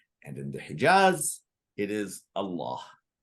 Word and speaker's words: Allah: delete the eye vowel I have no idea why Allah is pronounced with a dark l no one can answer